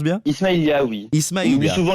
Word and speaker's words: Ismaïlia: Donc vous l'avez évoqué tout à l'heure, Claude François est né en Égypte le 1er février 1939 à Ismaïlia, je le prononce bien? Ismaïlia, oui.